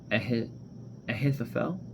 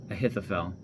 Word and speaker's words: Ahithophel: While Absalom was offering the sacrifices, he sent for Ahithophel, I think that's how you pronounce it, Ahithophel, one of David's counselors who lived in Gilo.